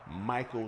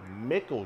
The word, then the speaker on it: Michael: Think of it like this. Michael Jackson. M-I-C-H-A-E-L. Michael Jackson. It's not Mickle Jackson, because if it was Mickle, it would say M-C-H-A-E-L.